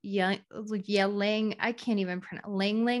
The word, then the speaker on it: ylang: Well, I would say that jasmine oil, ylang oil, but it's spelled Y-L-A-N-G oil.